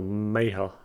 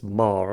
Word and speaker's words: Maher: I used to think his name was actually pronounced Bill Maher, but it's Maher apparently.